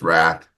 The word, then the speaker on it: Rath: And I didn't introduce my co-host, Wrath. He's Wrath. It's spelled R-A-T-H, which is not how you spell Wrath.